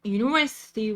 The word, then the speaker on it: university: We pronounce it like university. University, not university. It's university.